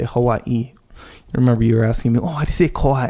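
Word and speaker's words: Hawaiʻi: the okina there like like the word Hawaii Hawaii there's two eyes at the end so you say Hawaii remember you were asking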